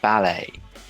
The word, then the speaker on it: ballet: and mind scene mankind billet does not rhyme with ballet okay wallet mallet chalet